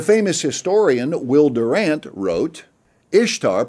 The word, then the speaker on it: Ishtar: The famous historian Will Durant wrote, "Ishtar, pronounced Easter, interests us not only